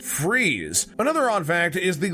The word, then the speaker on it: Fries: just the name in fact fry's is actually pronounced freeze another odd fact is the local river nearby